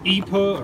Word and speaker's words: ipe: It's a wood called IPA, or Ipe, it's spelled IPE, but if you look it up, it's one of the hardest, toughest woods on the planet, basically.